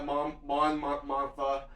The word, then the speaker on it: Mon Mothma: so Mon Mothma, I think that's how you pronounce her name, right? Yeah, Mon Mothma.